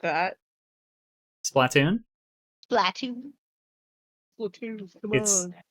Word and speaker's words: Splatoon: Splatoon? Splatoon. Splatoon, come on. It's like Platoon, but Splatoon.